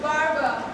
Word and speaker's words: Baba: I must tell you that Kukbadar means take care, and Baba, pronounced Barba, means young lady.